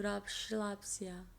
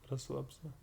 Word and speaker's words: Расслабься: Нет, я буду расслабься. Расслабься. I said it wrong. Расслабься. Расслабься. There's no shh.